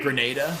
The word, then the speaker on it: Grenada: Uh, pronounced G Grenada. Grenada. Okay, I said Granada. I'm sorry. Grenada.